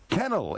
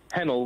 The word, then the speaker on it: Hennel: And I'm going next to Kennel. Is that the right pronunciation? Kennel from Harrow. Hennel with a H.